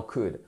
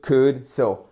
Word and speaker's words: could: ce qui se passe on ne prononce pas le l jamais on dit pas co